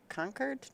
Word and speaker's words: Concord: supposed to say con conquered no conquered no you don't say the r it's like yeah you